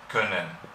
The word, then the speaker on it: können: Otro caso muy muy común, el verbo poder, können. ¿Por qué? Porque hay una doble consonante detrás, después de la vocal, por tanto la vocal se pronuncia pesado o pesada. Können, como zwölf, No en este caso es larga, öl.